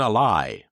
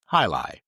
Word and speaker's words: Jai Alai: And it wasn't Alai, it was Halai, and it was something else.